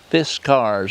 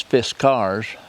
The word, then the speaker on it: Fiskars: So anyway, we'll get off of here and we'll see what Fiskars, I think's the proper pronunciation. Not Fiskars, it don't matter. The proper is Fiskars, and I always call it Fiskars like everybody